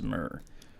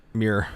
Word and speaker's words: Muir: the ghost and mrs murr mir muir it's not not mirror it's not it's not taking gifts to jesus it's worse than that you don't even fully pronounce it uh okay so i